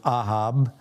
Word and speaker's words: Ahab: At this point, we're at about 860 BC, roughly, and Israel is under Ahab, as we pronounce it. I believe it would actually probably be pronounced Ahab, but Ahab is the king